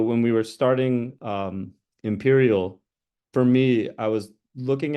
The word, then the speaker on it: Empyreal: today uh ampir Imperial I want to keep saying ampir because it's it's spelled that way but Imperial uh what is Imperial